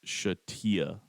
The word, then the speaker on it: Shatea: It's Shatea. Shatea. I know. You said Taya.